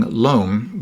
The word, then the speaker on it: loam: right now they're putting loam which is pronounced loom in maine for some strange reason four inches of loam